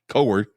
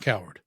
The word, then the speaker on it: Coward: Edward Cohard. Coord. Coord. Uh Roy Lucas, Bjorn Bergensson, and Trollles Helvik. Okay. We good with that pronunciation? Yeah. Just not coward.